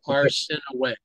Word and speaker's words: Arsinoe: It's Arsinoe. Arsinoe? The way that it's pronounced is Arsinoe. Arsinoe, okay. Yes. Because the umlauts over the E?